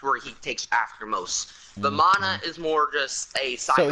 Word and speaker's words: Vamana: Yamacha, I believe is how you say his name? No, not Yamacha. That's from Dragon Ball U. What's his name? Vamana.